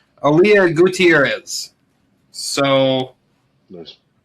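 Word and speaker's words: Aalyah: Um, I I think this is the right pronunciation. Aya Mysterio. Probably Aaliyah. I thought it was Ray's daughter. Aaliyah.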